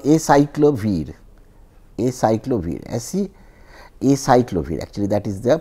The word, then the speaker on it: acyclovir: And if you want to do that, suppose I take a compound which is, there is a drug called acyclovir, actually that is the pronunciation.